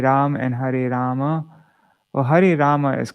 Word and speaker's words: Hare Rama: and Hare Rama well Hari Rama is correct it's just you know like in Bengali and Hindi they often don't pronounce the A's at the ends of words so that's the only